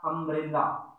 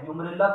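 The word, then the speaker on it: umbrella: यहां पर लिख दिया अम्ब्रेला, क्या है, ए की साउंड दे रहा है, यू उम्ब्रेला थोड़ी लिखेंगे, यूम्ब्रेला थोड़ी लिखेंगे, इसको अम्ब्रेला बोलेंगे, ठीक है, अम्ब्रेला हो गया ये।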